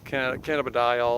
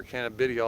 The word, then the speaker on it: cannabidiol: know CBD which is cannabidiol or can of Vidia all depending how you want pronounce it but there are a